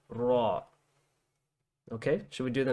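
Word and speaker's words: ر: brilliant okay um so there's just a slight difference between this and the english letter which would you we would say r you can pronounce the english letter with a lighter sound like ra ra so it's just too important to remember that this is a heavier sounding letter it sounds like raw rather than a you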